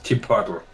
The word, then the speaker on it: Chipotle: You know, it's Chipotle. Look how it spells. Say it like an English man.